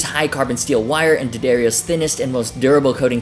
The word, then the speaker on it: D'Addario: to give a shout out to today's sponsor daddario they say it right this time really hope